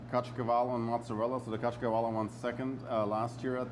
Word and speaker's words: Caciocavallo: So the Caciocavallo won second last year at the Royal, and second this year at the How do you say it again, Tori?